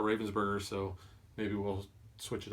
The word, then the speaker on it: Ravensburger: honorable mention is from Robbins burger which I think in our intro we actually mispronounced it I've heard a lot of people call it Robbins burger we've always called a Ravensburger so maybe we'll switch